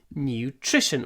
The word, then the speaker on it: nutrition: Nutrition. When you pronounce it, make sure you get the sh.